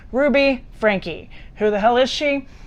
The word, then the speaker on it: Franke: It's spelled Franke. One would assume you'd say Frank and the E would be silent, but apparently that is not correct. Ruby Franke.